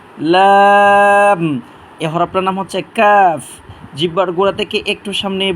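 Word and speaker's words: ك: আলিফ টানবো লাম লাম এই হরফটার নাম হচ্ছে কাফ জিহ্বার গোড়া থেকে একটু সামনে বাড়াইয়া তার বড় বড় উপরে তালুর সাথে হরফটা আমরা উচ্চারণ করব তিনবার করে উচ্চারণ করি কাফ কাফ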